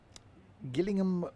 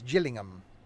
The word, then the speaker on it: Gillingham: I'll use some paper is sold in rooms Gillingham with a G as and as in Jill says Gillingham killing him Gillingham Gillingham why they call it